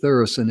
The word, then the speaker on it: Thureson: i mean she is and i think i pronounced your name correctly with thorison is that right did i if that's correct